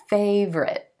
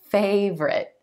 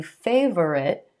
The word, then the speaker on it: favorite: So for example, this word, favorite, favorite. I know it looks like it should be favorite, but we're going to X out that O in the middle. We're just going to say 2 syllables, emphasis on the first